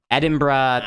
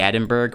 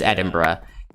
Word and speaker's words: Edinburgh: Edinburgh which is um the capital of Scotland Edinburgh is um I know if you look at it and as a word it it sounds like it should be Edinburgh but the way that it's actually pronounced in